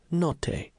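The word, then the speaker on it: Notte: Noi or something. Not Etienne corrected, pronouncing the name Note.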